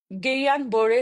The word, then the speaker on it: Guillain-Barré: এই GB syndrome হয়েছিল এই সঠিক উচ্চারণটা একচুয়ালি গেইয়ান বোরে সিনড্রোম এটা ফ্রেঞ্চ নাম এটা কোন গুলেনবাড়ি গিলান বেরিয়ের গিলাবেরি এসব কিছু নয় তো যাই হোক হোক